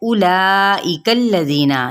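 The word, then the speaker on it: أولئك: उलाइकल्लज़ीना, ये देखें वाव साइलेंट है, तो हमने हमज़ा की पेश को बढ़ाना नहीं है, ना ही मजहूल पढ़ना है, यानी ओ नहीं कहना, ठीक है।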